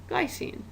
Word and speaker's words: glycine: last one how do you think that gets pronounced glycine and again as you look at these formulas